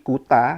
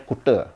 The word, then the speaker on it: Kuta: seperti t di Bali kuta diucapkan sebagai kut atau kalau orang Bali nyebutnya kute ya.